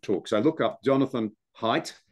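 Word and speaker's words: Haidt: an utterly brilliant talks I look up Jonathan height it's spelled h AI DT um he's a New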